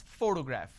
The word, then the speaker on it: photograph: So in this case, this particular word has 3 syllables and I pronounce this as photograph, which means I'm stressing on the first syllable.